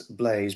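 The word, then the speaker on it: Blaise: Yes, it's spelled B-L-A-I-S-E. Yes, Blaze. B-L-A-I-S-E. That's how it's spelled, Carol, yes.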